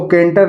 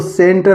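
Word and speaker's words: centre: लिखा हुआ है दोस्तों सीई एन टी ई आर लिखा है सेंटर इसको केंटर नहीं पढ़ेंगे इसको सेंटर पढ़ेंगे इसी तरह लिखा हुआ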